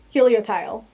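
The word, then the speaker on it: Helioptile: uh hel tile yeah Helio tile I think is how you're supposed to pronounce it it is a little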